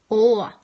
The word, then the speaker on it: å: Å is pretty much the same as the short O sound, which means it's pronounced like the English O in more. Å.